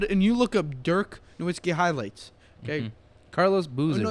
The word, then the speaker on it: Nowitzki: team dirk nowitzki i it's spelled nowitzki but like people say novitskiy all the time did dirk